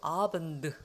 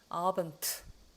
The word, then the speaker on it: Abend: 그 다음에 이것도 아번드 하면 좋을 텐데 아번트 한단 말이죠.